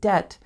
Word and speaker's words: debt: Remember, with the word debt, the B is silent. Debt.